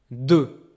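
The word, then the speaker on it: deux: two the number two du there's a x at the end but it's only the spelling okay we don't pronounce the X we don't hear it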